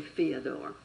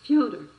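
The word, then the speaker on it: Fyodor: to do right but don't say theodore it's fiona all right the novel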